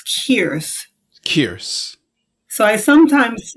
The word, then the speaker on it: Kearse: So is it just, it's pronounced? Kearse?